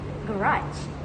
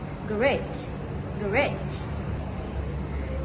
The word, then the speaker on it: garage: On one hand, British English often stresses the first syllable of French origin words.